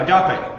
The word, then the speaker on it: agape: I don't know how to pronounce it, but Go for it. Yeah, agape.